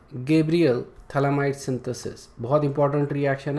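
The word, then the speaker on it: phthalimide: इसको अपन बोलते हैं थैलामाइड, ओके। pH जो है बेसिकली ये साइलेंट है, okay, that's why it's called as थैलामाइड, okay.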